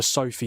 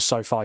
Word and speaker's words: SoFi: I I called it the Sophie Stadium. It's called the Sofi Stadium.